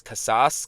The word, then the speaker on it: Casas: you could flip KAS how how do you pronounce his name c a s a s kasas kasas for you could flip him for other